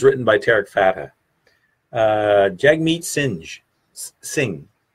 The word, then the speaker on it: Singh: Jagmeet Singh. You don't pronounce. I'm trying to pronounce the H and I shouldn't.